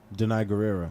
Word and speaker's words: Danai Gurira: she was the main stunt double for Dana Danai gurira yes that's how you pronounce it yeah I'll call you yep who